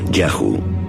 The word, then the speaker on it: Yahu: Asu vivían se llamaba yhw probablemente pronunciado yahu seguramente el nombre de